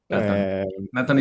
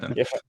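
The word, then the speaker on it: נתן: Natan is proper way in in Hebrew to say Nathan. It's the Israeli pronunciation of of Nathan is Natan.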